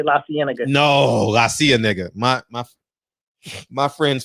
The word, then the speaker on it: La Cienega: Also, when people come out here, man, there's certain streets that they can't pronounce. Like they cannot say La Cienega.